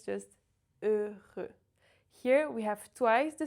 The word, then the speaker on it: heureux: It's not heureux, it's not heureux, it's just heureux. Here we have twice the same sound, E, the French closed E, and the letter R in the middle. The H is silent, the X is silent.